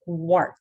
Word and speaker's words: quart: После звука «в», and буквосочетание QU тоже читается как «кво», вернее, «кво». Поэтому у нас получается «quart». То есть если у нас звук «в», то AR будет читаться как «о», «or».